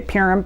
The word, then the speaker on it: Purim: Biblically, there is something called Purim, I think is how you pronounce it, or Purim. I hear most people say Purim, P-U-R-I-M.